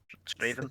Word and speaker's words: Strathaven: I get pure chastised for this when I was going to a Straven? Sunday League game. It's Straven, that's what it's pronounced.